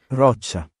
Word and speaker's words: roccia: Roccia.